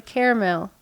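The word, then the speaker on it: Carmel: they're two different things well carel spelled different c a r m e- l when you had another a in there caramel it's not there for looks okay you're like whatever it's Caramel Indiana and I don't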